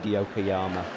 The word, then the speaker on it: Yokoyama: own defensive line yokoyama i think it's yokiyama actually i've been pronouncing his name wrong for about 50 minutes i have written it down wrong on my sheet as the bears clear the zone it is indeed yokoyama i wrote it correctly on my sheet but i've been pronouncing it wrong all game as the mavericks come